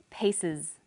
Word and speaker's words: pieces: The example was pieces. Pieces. The S on the end is pronounced z because it followed an S sound.